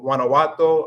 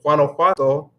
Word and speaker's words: Guanajuato: So I thought about going to Guanajuato.